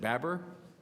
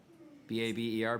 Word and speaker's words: Baber: Is it Baber? B-A-B-E-R, Baber?